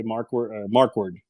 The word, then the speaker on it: Markwardt: You can leave the T off when you pronounce it. I guess just say Markward.